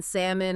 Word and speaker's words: salmon: Or all the silent letters, the K in know the B in debt, the L in salmon or kernel.